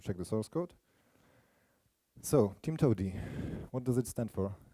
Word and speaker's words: TIMTOWTDI: now or or check the source code so Tim Toady what does it stand for it's actually there